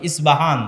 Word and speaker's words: ইস্পাহান: ইস্পাহান থেকে বের হবে ইস্পাহান হচ্ছে ইরানের নগরী আজও ইরানের মধ্যে ইস্পাহান নামে সেই নগরী আছে আমরা প উচ্চারণ করি আরবিতে এটা উচ্চারণ হয় না আরবিতে হয় আল আসবাহানি বা উচ্চারণ হয় ইসবাহান আসবাহানি সেখান থেকে 70